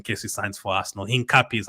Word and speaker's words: Hincapié: Hincapie is how you say it.